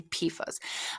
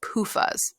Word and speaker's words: PFAS: I always say PFAS. Now I feel like I need to spell it out for you because I don't want you to think it's PUFAs, not PUFAs and seed oils. We're talking about PFAS.